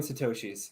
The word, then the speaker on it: Satoshis: So is one Bitcoin 100 million Satoshis? Is that how you say it? Yes, it's 100 million Satoshis.